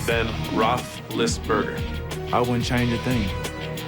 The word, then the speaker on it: Roethlisberger: Marino, it's Ben Roethlisberger.